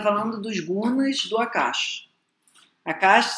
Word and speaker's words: Akash: Akash se escreve A-K-A-S-H. Pode botar um A no final, pode ser Akasha ou Akash. Você vai encontrar das duas formas.